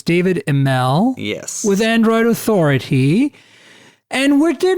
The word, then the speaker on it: Imel: I don't even really know how to say it, but I just say Imel because it sounds fancier. I just go with that. You know how to say it right. So it's David Imel.